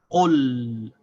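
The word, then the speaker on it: قُلْ: So we say qul as one syllable. We stop on the sound of the lam.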